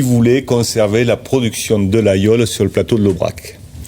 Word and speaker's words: Laguiole: Et ça s'écrit la guule mais on prononce l'ayool.